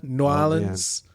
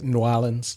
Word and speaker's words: New Orleans: Say it right. New Orleans. Say New Orleans. New Orleans. And just one word.